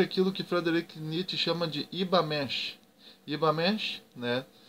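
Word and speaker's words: Übermensch: que Frederick chama de ibamash ivamente né que tu escreve como Uber mexe né mas como é uma palavra ele Amado pronuncia mesh Lembrando que esse U tem uma trema em cima dele o conceito traduzido do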